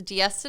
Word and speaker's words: Diazsta: business so it's the dies to designs everyone gets the name wrong but it's like fiesta but dies instead i've always loved parties